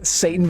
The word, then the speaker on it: Seitan: Satan bacon. Yeah. It's spelled different. It's spelled different. It's wheat meat. If you have a gluten allergy, it would kill you because it is gluten. That's what it is. Wheat meat. It's spelled Seitan.